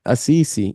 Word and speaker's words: Assisi: Assisi, yeah, Assisi, Assisi.